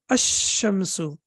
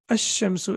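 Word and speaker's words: الشمس: So how do we pronounce it? We say ashamsu ashamsu. And the reason is um as I told you earlier that whenever we have after lamb when we have tashdeid then the lamb is not pronounced it becomes sakin.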